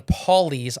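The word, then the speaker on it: Pawleys: to make landfall on Paulie's Island p a WL e y's Island Paul PA like Paulie yeah uh so yeah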